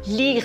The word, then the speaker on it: Lierre: Lire s'écrit L I E R. hein. Mais bien sûr, on prononce lire et lui aussi il est originaire de la ville de Lire.